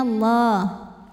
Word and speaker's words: Allah: Wattakhadallah, lam pada lafaz Allah dibunyikan secara tafkhim, sebab huruf sebelumnya berbaris fathah, maka dibacanya tebal, bunyinya Allah. Wattakhadallah.